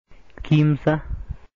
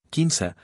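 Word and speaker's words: kimsa: La palabra en quechua originario era Quimsa. En la región de Chavín el quechua originario, quinza, cambió de pronunciación hacia la pérdida completa del sonido, s, por lo cual hoy esta palabra ya es pronunciada Quima. En la región de Cusco, el quechua originario, quinza, cambió y reemplazó el sonido m por n, por lo cual hoy en día se da la pronunciación Quinza.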